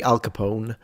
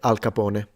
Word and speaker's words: Al Capone: I know that in English you say Al Capone, but he would have said Al Capone. That's the pronunciation.